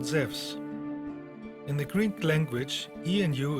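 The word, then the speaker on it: Ζεύς: wrong English translation because correctly he is called zevs in the Greek language ianu is pronounced like a w in the word wisdom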